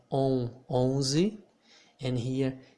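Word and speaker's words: onze: would say peng so we do not pronounce the n the n here in this situation makes the vowel that comes before of it become a nasal vowel okay so here i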